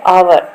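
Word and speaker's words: hour: हैट ए यहां पर देखिए एच एक कंसोनेंट यूज़ हुआ है बट क्या है साउंड है आवर एच हम साइलेंट कर रहे हैं बोल रहे हैं ना जब इसको आवर आवर तो एन एन अर्ली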